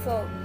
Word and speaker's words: V: S, T, U, V, Fo. As you can see that this pronunciation is also completely different from the other. It sounds like F, Fo.